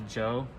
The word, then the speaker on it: Djo: album by Joe, which is spelled DJO.